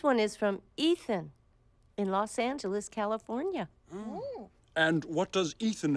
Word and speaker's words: Los Angeles: it means the Angels you pronounce it in Spanish like this Los Angeles some people call Los